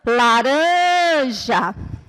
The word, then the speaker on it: laranja: Na palavra laranja, a sílaba que vai ser pronunciada com mais força é a sílaba rã, laranja.